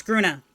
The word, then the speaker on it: Gruna: it's a grun or is it grun gruna it's gruna thank you I had just